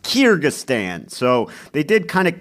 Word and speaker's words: Kyrgyzstan: kyrgyzstan kyrgyzstan i looked it up how it's pronounced kyrgyzstan so they did kind of cap the puzzle